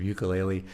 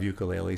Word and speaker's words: ukulele: which I have another program called Yoga of Ukulele. So that definitely that alliteration goes much better until, but I was called out in a very gentle way of somebody saying, the correct pronunciation is ukulele.